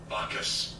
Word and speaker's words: Bacchus: Do you guys want to watch this video on how to pronounce it? Yes. Yeah. Bacchus.